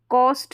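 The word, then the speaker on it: coast: तो ये कॉस्ट है। कोस्ट और कॉस्ट में थोड़ा सा फ़र्क है प्रोनाउंसिएशन में।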